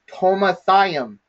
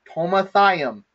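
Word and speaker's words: חומתיים: And so the way that we the way that we pronounce this word is tomathayim, tomathayim, okay?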